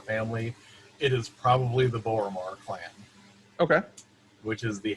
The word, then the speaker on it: Boromar: it is probably the borromar clan okay which is the halfling organized crime in the city gotcha and that's like bore a mirror but spelled with an a uh b-o-r-o-m-a-r okay okay so they